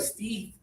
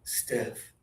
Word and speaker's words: stiff: The first time you said it, you made the normal mistake of ste, but you fixed it quickly. You put your tongue lower with more air and you said it very well. Stiff.